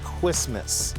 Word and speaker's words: Quismas: Correct, it's a series pronounced Quismas. Quismas. Quismas, Did I correct.